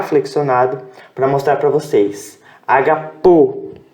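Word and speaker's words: ἀγαπῶ: Agapo, tá ok? Agapo. A sílaba tônica está aqui, a sílaba tônica está aqui. Isso aqui é um acento, tá?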